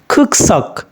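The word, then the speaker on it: 국적: হচ্ছে serum serum মানে মানুষ ইরুম মানে নাম খুকসক জাতীয়তা খুকসক জাতীয়তা এটা খুক জক না হয়ে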